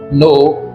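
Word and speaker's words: knee: एन आई एफ ई नो नी walk in talk. तो आप यहां पर देखेंगे कि जो नाइफ की स्पेलिंग है इसके अंदर के साइलेंट है। नो में के साइलेंट है।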